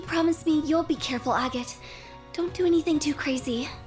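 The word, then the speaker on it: Agate: Agot, don't do anything too crazy. It's pronounced AGOT. Agot. Crossner. Ew. that. I'm sticking with Auggot.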